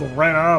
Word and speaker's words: Rena: It's spelled Rena, but they pronounce it Rena for whatever reason.